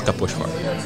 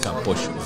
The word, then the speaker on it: Kaposvár: To be really, the best place for me to go is Kaposvár. Kaposvár? Yeah, Kaposvár.